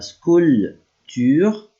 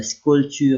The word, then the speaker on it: sculpture: Je fais de la sculpture en batacelle. Here I don't pronounce the P.